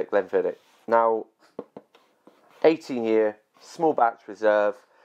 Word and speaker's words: Glenfiddich: Okay, there's a few ways to pronounce Glenfiddich. It's that way. Then there is Glenfiddich. Glenfiddich. Putting emphasis on the CH. And then there's Glenfid. De. The CH is silent.